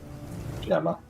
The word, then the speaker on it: Gemma: Gemma. Wait, soft G. How dare. It has a G. It should be pronounced GMA like you do GIF.